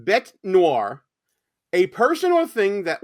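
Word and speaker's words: bête noire: okay so the uh it's actually pronounced bet Noir a person or thing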